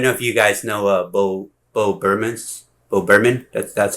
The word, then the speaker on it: Bo Burnham: And this is I don't know if you guys know Bo Burnham. That's how it's pronounced.